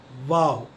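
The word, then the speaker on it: واو: अपने नीचे वाले होठ को ऊपर वाले सामने के दांत से जुड़ाएं और कहें वाव, वाव.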